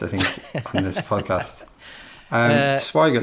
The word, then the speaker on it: Swigert: I've managed to mispronounce all of their names, I think, on this podcast. Swigert, not Swigert.